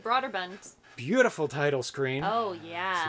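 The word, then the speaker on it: Brøderbund: Bruderbund. Yeah, because we watched some videos recently of somebody pronouncing it. I'm like, that's not the way I ever pronounced it. I always said Broderbund.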